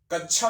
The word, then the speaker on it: कक्षा: में क्या बोलते हैं कक्षा बोलते हैं सब लोग अब कच्चा बताओ सुनने में ही लगता है की यह अनपढ़ है गवार है बिल्कुल कक्षा का शाब्दिक